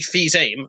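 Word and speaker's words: Fils-Aimé: of Nintendo cause Reggie fils-aime as I believe his name is pronounced is spelt like Phil Simms well I think it's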